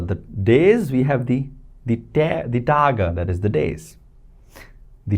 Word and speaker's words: Tage: For example, der Tag, that is the day, but for the days, we have the Tage, that is the days. The Tage. E at the end is pronounced as by the way.